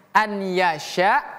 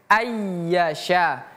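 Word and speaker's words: أَنْ يَشَاءَ: Jadi bukan an yasya tapi ayyasya.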